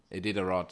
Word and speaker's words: Iditarod: Iditarod. How do you say it? Iditarod, thanks.